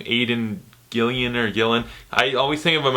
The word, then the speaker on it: Aidan Gillen: How do you pronounce his name? Aidan Gillen.